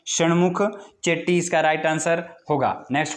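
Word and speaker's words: शण्मुखम चेट्टी: इसकी प्रोनाउंसिएशन आपने देख लेनी है। आर के शमुख चेट्टी इसका राइट आंसर होगा।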